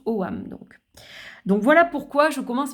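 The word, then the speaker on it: Ogham: Et donc, bien que ça s'écrive Ogam, dans l'irlandais moderne, on le prononce Oam.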